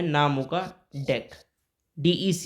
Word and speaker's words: dec: Carbon है नाम होगा डेक। DEC, ये डेक आपको पढ़ना है, जैसे डेक ऑफ कार्ड्स वाले DEC के वाले प्रोनाउंसिएशन में आपको पढ़ना है।